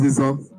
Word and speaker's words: Izon: Ijo is anglicized. Though in our native tongue, there is actually no difference between J and Z because we don't really have J in our language. So when we try to pronounce it, we mix it up. Okay, so sometimes we pronounce Z to be J, we pronounce J to be Z. So, but the name is Izon.